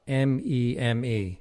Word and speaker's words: meme: a meme stock or is it a mems pronunciations vary i think meme might be the more common one i think mem is